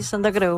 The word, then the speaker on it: Santacreu: Están escuchando la voz de Santa Creu. Se pronuncia así tu apellido, ¿no es cierto? Sí, Santa Creu, valenciano.